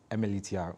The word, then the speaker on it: MLETR: MLETR, okay. I'm trying to pronounce it. I used to call it M-letter before.